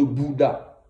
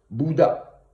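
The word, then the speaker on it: Buddha: Bouddha. Mais en réalité, quand vous lisez bien, en réalité, ça se dit, le Bouddha s'écrit avec un U et qui se prononce OU.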